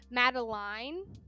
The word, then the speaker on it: Madeline: With in book club we were not sure how to pronounce their kid's name. It is Madeline.